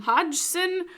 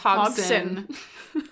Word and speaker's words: Hodgson: the D is silent. It's probably just Hogson.